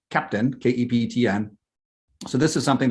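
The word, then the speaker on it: Keptn: here um and here's the website and it's pronounced captain k-e-p-e-t-n so this is something that dynatrace has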